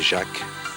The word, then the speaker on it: Jacques: Jack, mais pas Jack J K mais Jacques comme ça s'écrit chez nous puisque le pilote est Jacques